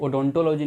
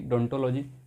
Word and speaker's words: odontology: इसे ओडोंटोलॉजी नहीं बल्कि डोंटोलॉजी पढ़ा जाता है। इसमें ओ साइलेंट रहता है।